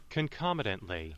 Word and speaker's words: concomitantly: Concomitantly. Oh, concomitantly. I completely got that wrong for the pronunciation.